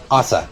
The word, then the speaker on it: Asa: Asa, that's how you say it.